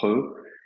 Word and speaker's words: He: qui est le son He. He, ça s'écrit H-E, hein, en chinois, le H se prononce un petit peu comme la rota en espagnol.